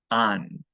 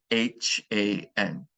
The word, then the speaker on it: han: and ellos will use han, okay, H-A-N. There will be an H in all the conjugations, but of course the H is silent in Spanish.